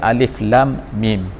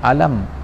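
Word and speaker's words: الم: telah menunjukkan bahwa ada Alif Lam Mim Jadi dibacanya ialah muqadha'ah alif lam dan juga mim Tapi tidak dibaca dengan alam sebagaimana di tempat lain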